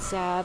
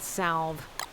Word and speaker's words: salve: I've been told that this uh word is pronounced sav and not salve.